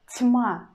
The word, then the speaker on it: тьма: Word тьма, тьма, тьма.